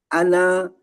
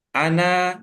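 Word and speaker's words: أنا: Oke, terus berikutnya ana ya. Bapak, Pak Bambang, apakah berkeyakinan ya, Nun di situ panjang sehingga Bapak bacanya ana. Apakah memang keyakinannya nunnya itu panjang, Pak? Ya, pendek nih, Pak Guru. Ana.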